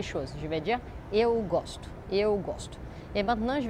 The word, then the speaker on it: gosto: Donc, la seule différence entre eu gosto et ele gostou, c'est vraiment où on met la syllabe forte. Donc, dans les présents avec j'ai, eu gosto, j'aime, eu gosto, la syllabe forte est l'avant-dernière.